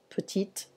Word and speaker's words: petite: So prononciation, petit, petite.